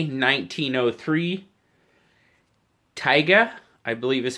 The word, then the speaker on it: Taiga: this one is the CJ RB j 1903 tyga i believe is how you say it it's ta IG a first I thought it was t Agha but the a is before the I so